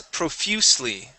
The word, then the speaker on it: profusely: This word here is profusely. Stress right here on you. Profusely.